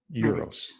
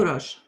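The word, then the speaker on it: Uroš: So how do you pronounce his name? Uros Medic? Uros Euros. Euros? Euros. You're like Euros. No, No. Uros. Ur. Yes. Uros? Oh, then there you had the R too. Uros. Yes. Ah. Yes.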